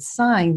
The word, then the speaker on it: sign: of consistency there like in the word sign the G is silent but in related words like signature and signal the G is not silent it's also not always